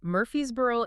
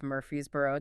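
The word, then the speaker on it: Murphysboro: The town is Murphy'sboro, Illinois. That's mur p h y sb o r o. And he was adamant. Adamant. Do not confuse it with Murphy'sboro, Tennessee.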